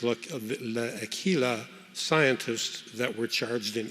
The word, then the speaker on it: L'Aquila: of view of the I think it's pronounced look Aquila scientists that were charged in Italy oh it's a sad story I am good friends with five of the seven of the l'aquila seven accused of manslaughter